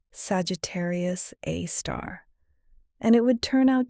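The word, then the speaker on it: Sagittarius A*: They called it Sagittarius A, pronounced Sagittarius A star, and it would turn out to be one of the most important objects in the galaxy.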